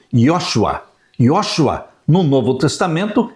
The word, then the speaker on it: Josué: O nome Josué no Antigo Testamento se pronuncia como sendo Yosua.